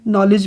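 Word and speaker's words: knowledge: Psychology में P silent है, नॉलेज में के साइलेंट है और डी साइलेंट है, जबकि डाउट में बी साइलेंट है और केटल में कोई लेटर साइलेंट नहीं है।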